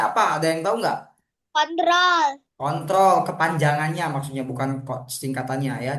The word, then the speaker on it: Ctrl: Command ditulisnya ya, dibacanya. Kontrol.